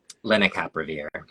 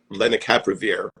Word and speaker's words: Lenacapavir: Lenacapavir. Lenacapavir.